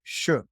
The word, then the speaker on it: shi: word for it is something like shu, like SHI is how it's spelled, but it's pronounced like shu, as in should.